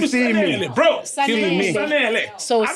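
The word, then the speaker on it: Sun-EL: You said Sunny L. It's Sanel. Sun Just because I can't pronounce him. No, it's Sun L.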